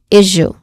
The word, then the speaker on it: issue: It starts with ish, which has a short e vowel sound, issue, ish. And then it ends with a long oo sound, issue.